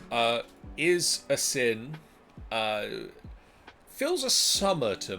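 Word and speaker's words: Asyn: what's this a sin a sin a-s-y-n a sin that's right that's what I'd say uh is a sin uh fills a summer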